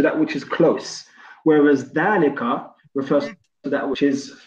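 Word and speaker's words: ذلك: The reason why they've done that is because sometimes the alif will be pronounced but not written, and this is one of those cases. You can see the alif is not actually written, however it's pronounced, and because it's pronounced, that's why they just put that line in there to help you out. So it's not dalika, it's dalika, as if there was an alif.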